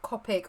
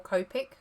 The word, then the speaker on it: Copic: They are not Copic or Copic. Copic. I think it's two different ways of pronouncing it.